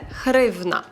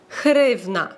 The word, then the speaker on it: гривня: поляків повеселитися з друзями Попросіть поляків вимовити букву г і сказати слово гривня в них не вийде тому що звуку гивних немає І він дуже складний для польської мови тому вони називають гривню гривна пшик хрень НАТО офіціальна